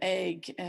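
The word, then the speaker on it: Eigg: It's EI G. It's actually a Norse name. You would think that, you know, it might be in Gaelic, but I think the word egg itself is actually Norse.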